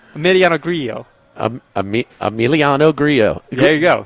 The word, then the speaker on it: Grillo: Another double L that's pronounced differently, according to the PGA Tour pronunciation guide. Emiliano is 2 L's? That's 1. Right, but okay. Grillo is 2, back-to-back. Yeah, Grillo, right. Yes. The double L's are a Y, yes.